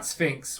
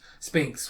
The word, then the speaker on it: Sphinx: they uh they say they pronounce it the greek way instead of the egyptian way so it's not sphynx with an f it's sphinx with a p p